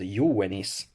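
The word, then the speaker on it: iuvenis: that did double job think back here to this word yo wennis um this letter here was an ooh and then this was a wa as in venice the pronunciation only came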